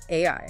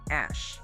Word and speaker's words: Æ: saying A then I, AI. Okay. Musk, on that Rogan podcast the sources mentioned, also said X like the letter, but pronounced A more like Ash.